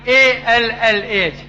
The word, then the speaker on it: Allah: We Muslims, when we write in English Allah, we write A-L-L-A-H. But Reverend Scofield wrote A-L-A-H. They pronounce Ella, we pronounce Allah.